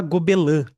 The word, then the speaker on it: Gobelins: O veto é é fala gobelã, eu acho, mas se escreve gobelins, é que é francês.